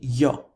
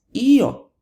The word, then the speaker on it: io: Well, what if it's io? What if the emphasis actually falls on that I and it's pronounced io, not yo, io? Well, then we have to retain that I that the stress falls on.